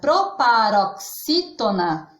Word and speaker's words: proparoxítona: Então, uma curiosidade, a palavra proparoxítona é uma proparoxítona, porque a sílaba tônica desta palavra é o xi, que está na posição antepenúltima.